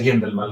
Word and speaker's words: Guendelman: Bueno, primero me presento como Rodrigo Gendelman, mi amigo se pronuncia Gendelman, la uno se pronuncia, si no le tendría que poner cremillas, pero no.